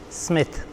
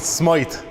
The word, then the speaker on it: Smyth: Smith Smith yeah because there's parts of the world and they pronounce it Smite and it really bothers me and fellas don't believe me when I say it's Smith they're like no no Smite oh no definitely Smith right Sam obviously I'm